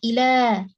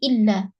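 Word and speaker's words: إلى: harus melatih cara membacanya cara bacanya adalah Ila ya alifnya pendek kemudian dipanjangkan akhirnya ya jangan salah karena kebanyakan dari kita membacanya di tasjid menjadi illa kalau a artinya kecuali kalau Ila atau ini artinya ke atau untuk atau kepada Ya beda ya kemudian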